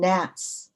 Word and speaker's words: nat: girl whole stick of incense tip aglow 37 gnats await atop mount popa volcanic relics sister brother